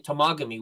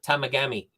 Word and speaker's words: Temagami: You know, I had a friend, instead of saying Temagami, which is the correct pronunciation of it, he used to call it Tamagami. Tamagami. Because he reads it, it's Tamagami, right?